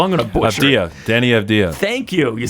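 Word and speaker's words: Deni Avdija: Danny Avdija.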